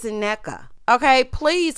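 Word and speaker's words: Nneka: corrected jezelle and said girl my name's not it's a NECA okay please correct these people cuz I think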